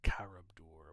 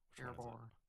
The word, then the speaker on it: Karabor: The Temple of Karabdur, whatever it is. Karabor? Karabor. Thank you. Alright, mispronouncing things is a straight way to tilt me off a cliff.